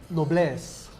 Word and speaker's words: noblesse: So, it's pronounced noblesse. It's a French word.